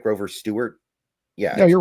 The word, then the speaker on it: Grover Stewart: Grover Stewart?